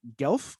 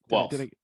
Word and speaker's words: Guelph: He is the head coach at Team Riddlestruck, the owner of Riddlestruck Fitness in Guelph, Ontario. Is that how you say it? Guelph. Guelph. You I was Guelph. so close. So close.